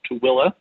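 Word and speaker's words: Tooele: away a town called tooilla it's not it does not sound the way it's spelled but that's how you pronounce it um they also have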